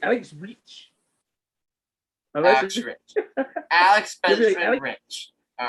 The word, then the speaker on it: Reich: It's Rich. His last name is Rich, not Reach. It's Rich. It's Rich. All right. Yeah. All right, Alex Rich. For some reason, I always pronounce it Reach.